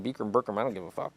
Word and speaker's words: Bikram: I've been mispronouncing that shit all the time. Burkham. I've been Bikram. pronouncing Burkham. He doesn't even care if you ask him. He's like, how do you say your name? Bikram.